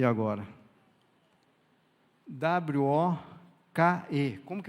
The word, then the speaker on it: woke: W-O-K-E. Como que pronuncia isso, Meire?